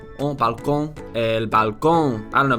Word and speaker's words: balcón: The N consonant, n, is velarized and pronounced ng at the end of words. For Velarized. example, in the word for balcony, Balcón, the word for Balcón.